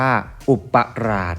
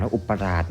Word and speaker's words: อุปราช: ตอบ มา นะ ครับ คำ นี้ นะ ครับ อ่าน ว่า อุปราช นะ ครับ คำ นี้ อ่าน อุปราช นะ ครับ ซึ่ง เป็น คำ